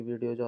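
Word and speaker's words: は: तो इसमें पहली चीज आपको नोट करने वाली चीज है कि लिखा हुआ हकि हम इसको रीड करेंगे वा।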